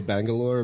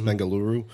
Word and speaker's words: Bengaluru: find that like uh we say Bangalore but it's Bengaluru okay okay so I